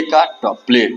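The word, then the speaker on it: contemplate: विच्छेद बड़ा ही आसान सी ओ एन को बोल दीजिए कौन टी ई एम को बोल देंगे टेम और पी ई पी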